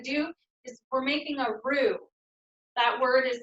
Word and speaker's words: roux: It's going to start warming up our oil, and then what we're going to do is we're making a roux. That word is spelled R-O-U-X.